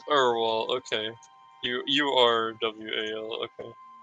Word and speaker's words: Urwal: That's how it's pronounced. Oh yes, Theo. It's Urwal, okay.